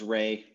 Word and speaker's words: Ra: if anyone's curious uh the guy's name is ray please stop calling him raw it's really annoying raw is the egyptological pronunciation right that says but we actually know his name was amun rei we know it so just call him ray uh but it is